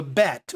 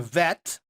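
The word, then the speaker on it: בית: the next one you have a bet or sometimes pronounced with a vet like avenue which would be our father as uh of but pronounced with with more of a v sound so there's the letter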